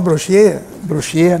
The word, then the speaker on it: Brochier: Os irmãos Brochier, né, na pronúncia certa.